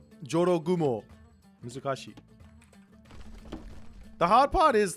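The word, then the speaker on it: 絡新婦: You gotta get the j in there. Jorogumo.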